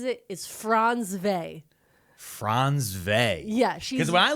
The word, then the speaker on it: Frantzve: I watched a lot of videos, and how she pronounces it is Frantzve.